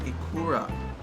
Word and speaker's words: ikura: Correction, ikura. I don't know. I think I went through a couple different pronunciations.